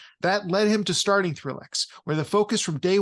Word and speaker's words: ThrillX: So with your company, ThrillX, and I'm pronouncing that correctly, right? ThrillX? Yep, ThrillX.